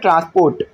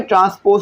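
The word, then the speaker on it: transpose: का ट्रांसपोज लोगे ना, बहुत से बच्चे इसको बोलते हैं ट्रांसपोर्ट, तो ट्रांसपोर्ट नहीं है भाई, ट्रांसपोज होता है, ठीक है, हो सकता है मेरी प्रोनाउंसिएशन थोड़ी आगे पीछे हो लेकिन ट्रांसपोज पढ़ना है इसको।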